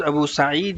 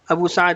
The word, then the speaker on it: ابو سعید: حافظ ابن حجر، امام نووی اور دیگر محدثین نے وضاحت کی ہے کہ درست تلفظ ابو سعید ہے، جیسے امیر ہے سعید اس کا وزن بن جائے گا. ابو سعد کہنا تصحیف، یعنی راوی